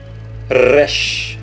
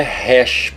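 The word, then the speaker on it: ריש: ter som de que Rush lembre-se que não é hash porque não é rei aqui é Rush com o r bem puxado Rush outra letra aqui embaixo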